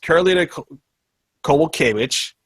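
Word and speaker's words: Karolina Kowalkiewicz: Uh Yan and Jek join a champion versus Karolina Koval Kitch.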